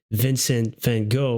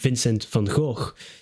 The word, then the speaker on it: Vincent van Gogh: respect as well for Vincent van Gogh, or as I would pronounce it in my own language, Vincent van Gogh.